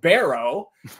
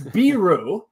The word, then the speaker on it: Biro: the name pronunciation because it is not Barrow it's biru and that pronunciation has